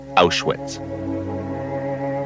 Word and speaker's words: Auschwitz: crossroads of Europe in German the town is pronounced ash wits and this is what's left of the biggest